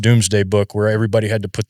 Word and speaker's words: Domesday Book: this thing called the Domesday Book, and it's pronounced Doomsday Book, where everybody had to put their names in these records, and they had to take a surname.